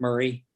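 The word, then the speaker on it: Maury: is mari county m-a-u-r-y locals pronounce it murray and um and then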